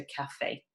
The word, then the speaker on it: café: that noun, so du, and then café with an E acute accent on the end, on that E, because the sound almost goes up, okay, so café.